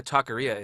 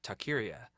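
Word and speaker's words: taqueria: that reminds me because I know what a takaria is but whenever I'd see the word in my mind I would always pronounce it Takira and I was probably about 25 to I realized I'm a complete idiot dude that I wish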